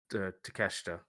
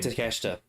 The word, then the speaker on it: Takeshita: and gave uh fucking how do you pronounce his name? Takeshita. Konosuke Um Takeshita. It's a bit of a mouthful. Takeshita yeah. If they gave him the win, Or as Jim Cornette calls him, take a shit.